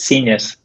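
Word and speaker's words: scenius: was saying it wrong it's seniors is like genius it's a portmanteau of scene and genius okay so that's why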